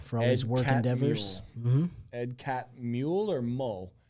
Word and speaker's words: Catmull: his work Endeavors edcat mule or mole I think it's cat mole because it's not m-u-l-e sorry Ed if we're